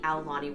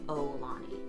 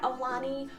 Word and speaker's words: Aulani: I was corrected in a recent video from somebody who lives in Hawaii, who posted that it's Ow, like O-W, Lani, and I tend to say Oulani, so I'm working on my pronunciation.